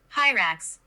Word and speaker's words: Hyrax: Hyrax.